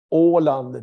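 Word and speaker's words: Åland: We talk about the Orland. That is how we pronounce it.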